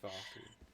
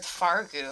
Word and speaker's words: Svarku: Svarku. I think he said Fargo. I'm like, oh, Yeah, okay. I heard Fargu. I was all like, interesting. Svarku.